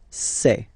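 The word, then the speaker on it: ces: then set here and for the plural say say really open this e e say Okay so let's see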